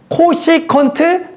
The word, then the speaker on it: 코시컨트: csc세타 읽을 때는 코시컨트 세타라고 읽을 거야.